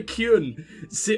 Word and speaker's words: Qun: ] and like everyone that was a terrible pronunciation i'm sorry i meant to say kyuen q-u-n and that came out very poorly um yeah it reminds me of the kyun with like everyone having